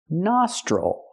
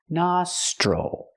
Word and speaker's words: nostril: is this one nostril the O makes the open a sound like hot and stop na nostril the T makes the chch chicken sound plus the r sound CH nostril again the i l does not make the ill sound because it's not stressed it makes the old